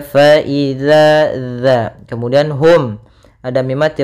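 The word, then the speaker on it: فإذا: ada Mad thii kemudian harus hati-hati dalam pelafalan dalal jangan terbaca faizza jangan terbaca dengan bacaan Zaza tapi dia faidzaza kemudian Hum ada mim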